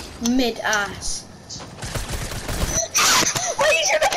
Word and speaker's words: Midas: mid ass. Why are you trying to pick at me? What is this? Is it Midas or is it mid-ass? Midas or Midas? I think it's mid-ass.